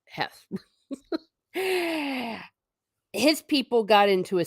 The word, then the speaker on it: Heth: there he is there's Heth I think pronounced Hess his people got into